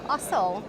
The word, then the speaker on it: Ossel: And we have Mark Ossel. Is that the right way to pronounce the surname? That's perfect. Yes.